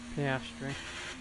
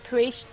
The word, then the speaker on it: Piastri: How do you say pastry's name? Piastri. That's it. Piastri. I could try to say it the other day. I was going priest. It's pastry, guys.